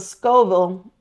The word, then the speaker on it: Scoville: This one actually has a Scoville. I think that's how you say it, Scoville, S-C-O.